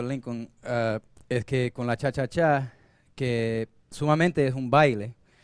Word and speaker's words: cha-cha-cha: The cha-cha groove, actually the correct pronunciation is cha-cha-cha with 3.